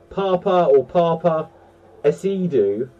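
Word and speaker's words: Paapa Essiedu: So, this actor's name, I'm going to mispronounce it. It reads as Papa, so P-A-A-P-A, so P-A-A. Papa Assadie was born June 11th, 1990, so he is 34 years old.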